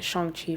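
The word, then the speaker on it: Shang-Chi: she will come out i keep pronouncing it wrong by the way we'll start pronouncing it chongqi from now on beyond so uh after that shang chi will come out and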